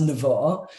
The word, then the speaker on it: Nevo: It's my name's pronounced Nevo, and people like say, oh, well, you know, I thought it was Nevo because of the book.